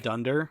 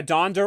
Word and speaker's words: Donner: Like, if anything, I pronounce Donner the other way or something. Because, like... Dunder? Yeah, Donder or Donner. People say it both ways. Like, which one is it? Well, the original was Dunder, because it was German.